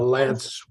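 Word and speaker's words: LAANC: know what it's called the l-a-a-n-c yes a lance waiver yeah yeah Lance is that how you pronounce it I think so yeah yeah yeah and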